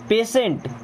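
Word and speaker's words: patient: then पेशेंट पेशेंट पेशेंट अब आपको समझ नहीं आ रहा होगा भाई यहां पे इसको स क्यों पढ़ दिया गया है तो यहां पे टी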